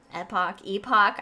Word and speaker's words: epoch: You said epic, like the Epic of Gilgamesh. I kind of got excited. Epoch.